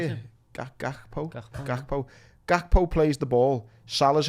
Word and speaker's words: Gakpo: Like Gakpo. Is that how you say it? Gakpo.